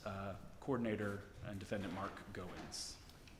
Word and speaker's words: Goins: Um, could you please state your name and spell it for the record? Yeah. Mark M A R K. Last name Goowens.